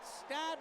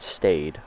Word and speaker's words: Stade: This could be one for the record books at Stade Royale. Who's ready for some dingers? Let's go! So it's Stad, not Stade. Okay. Okay, Stade Royale, so the E is silent.